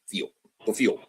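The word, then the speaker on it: Pfield: They play football at Field. Literally, that's what it says. P-F-I-E-L-D. Field.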